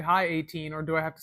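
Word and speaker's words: A'TIN: Okay, I don't really do that, but 18 meaning hours in Filipino, like pronounced like the number 18.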